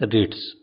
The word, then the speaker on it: REITs: REITs real estate investment trust या REIT, जिसका उच्चारण है रिट्स।